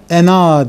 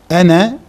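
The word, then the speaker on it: أنا: Halbuki bu sözcük ena diye yazıldığı halde ena diye telaffuz edilmez. Ene diye telaffuz edilir.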